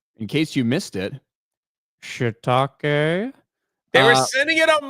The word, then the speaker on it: shiitake: Every time they would send it, everyone's like, she tiki. Like they would say stuff and just keep it moving. I'm like trying to stop them. Like, you guys are saying it wrong. Shiitake.